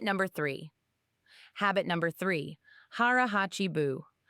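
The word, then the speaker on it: 腹八分: Harahachi Buu. It's pronounced harachibu.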